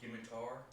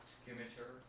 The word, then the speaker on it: scimitar: It's pronounced scimitar, not scimitar.